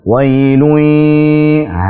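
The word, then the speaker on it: وَيْل: Hati-hati saat mengucapkan wai dalam pengucapan sifat min wai. Baik, fathahnya wa sempurnakan dulu, jangan wailun atau wailu jadi tebal. Wailun.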